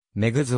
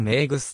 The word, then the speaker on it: メグズ: だったなお彼の名前である女グッズは実際の発音に近いであろう日陶器である日本のメディアではモンゴメリーめーぐすと表記されることもある女